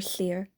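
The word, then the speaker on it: Llyr: oh my God I'm gonna name a character Slayer that name is spelled l l y r and I'm not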